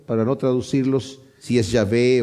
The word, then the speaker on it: Yahvé: yh vh pero eh lo voy a pronunciar yah porque parece que ese es el el la pronunciación más acercada a la realidad entonces dice el Elohim yahvé ha hablado y convocado